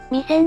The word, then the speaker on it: 弥山: いたっぽいの昔 3 戦の発音を広島出身の人に注意されたはみかんと同じアクセントで読んでたんだけど視線のアクセントと同じらしいは人案 3 年